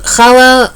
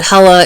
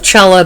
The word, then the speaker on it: challah: you very much um which is called chala uh for uh which is spelled with a s which is spelled c-h-a-l-l-a-h and if you can't say the guttural then please call it hala instead of chella because that's just weird um anyway so she